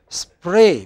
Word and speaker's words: spray: I said Oh God you mean spray because you know I I myself say spray when I go home you know I add an e before SP but in the northwest they add an e off between S&P not before now look at this